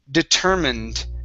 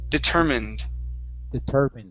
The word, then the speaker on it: determined: The word is pronounced determined instead of determined. Okay, we do not pronounce that E here. So it's determined. Determined.